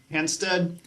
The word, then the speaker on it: Hanstedt: how do you say your last name henstead henstead and Kathy Sparrow where are you